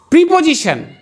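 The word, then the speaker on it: preposition: কথা হয়তো সি না এখানে এস এর উচ্চারণটা বর্গীজ এর মত হবে জি আর টি আই ও এন ট্যান হবে না উচ্চারণটা শ্যান হবে এটা মনে রাখতে হবে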